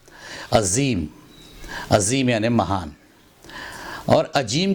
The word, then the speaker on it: عظیم: number کے شبد کو عظیم بول دیتے ہیں، عظیم نہیں عظیم، عظیم یعنی مہان، اور